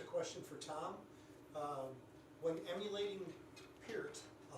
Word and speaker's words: Peart: When emulating Peart, I'll say it correctly, what takes priority on your approach to performance, technique, tempo, feel, or composition?